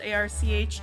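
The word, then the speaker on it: Arches: be using is Arch it's spelled a r c h s but you uh pronounce it Arch gonna turn the music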